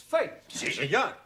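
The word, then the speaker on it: fête: the rule for example f e t e is also pronounced fate no one no no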